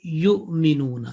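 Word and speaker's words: يُؤْمِنُونَ: Here you just 1 second dhamma and your voice is basically caught in between and say yu'minuna, and that is a soft jerk because of Hamza, okay? Because of Hamza, it is, it feels that there is a bit stopping in the exit point.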